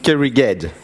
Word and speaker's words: Kerrighed: I will talk about flexible distributed checkpoint restart in Kerrighed. This is a French way to pronounce it.